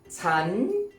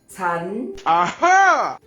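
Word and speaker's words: ฉัน: like a real time chan is normally pronounced with a high tone chan chan not for you men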